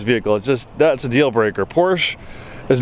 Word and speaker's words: Porsche: It's not Porsche, it's Porsche.